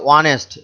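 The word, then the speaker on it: honest: এখানে লক্ষ্য করো, অনেস্ট এই শব্দটির প্রথম বর্ণটি হচ্ছে এইচ, অর্থাৎ এটি কনসোন্যান্ট, ব্যঞ্জন বর্ণ, কিন্তু উচ্চারণ করার সময় বা প্রোনাউন্সিয়েশনের সময় কি উচ্চারণটি আসছে? অনেস্ট, অ আসছে, অর্থাৎ অটি হচ্ছে স্বরবর্ণ, ভয়েল।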